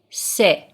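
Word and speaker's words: ث: Persian letter is named SE sit and it is pronounced it's just like s in English the form of this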